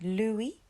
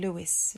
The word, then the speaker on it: Louis: always hear people saying Louis Louis um and actually it's Loui so we the S is silent Louie and then Von